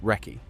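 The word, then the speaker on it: recce: 17th Wrecky, pronounced wrecky, short for reconnaissance.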